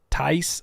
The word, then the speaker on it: Tice: Tice like rice and spice.